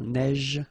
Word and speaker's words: neige: so same thing here, a neige, final E not pronounced, you only pronounce this j, same thing here, averse, okay, S is pronounced, the E is not pronounced.